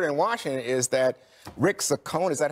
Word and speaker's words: Saccone: It's ironic to me that the word in Washington is that Rick Saccone, is that how you say it, Saccone?